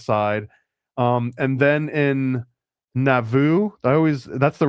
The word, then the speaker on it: Nauvoo: Um and then in Nauvoo, I always that's the right way to say it, right? Uhhuh. Navu.